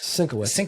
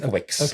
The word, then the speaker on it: Sinowitz: Sinawitz. Sinkitz. Sinowitz. Yeah, it's Polish.